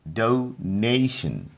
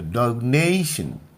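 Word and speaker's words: donation: निकल के आता है डोनेशन. डो पर कम जोर लगाना है, ने पर जोर लगाना है और सन पर जोर नहीं लगाना है. तो डोनेशन.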